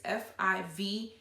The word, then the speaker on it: Fiverr: It's Fiverr, I believe is how you say it.